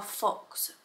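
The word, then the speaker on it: Phox: but it is our Fox water filter so it's spelled pH o x so Fox and it's basically a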